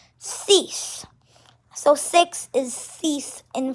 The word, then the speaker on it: six: q and six is cease so um same as the english numbers in french six is s i x but it's pronounced differently it's pronounced cease so six is cease